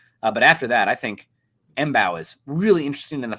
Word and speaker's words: Mbow: I would go Marcus Bow. The M is silent.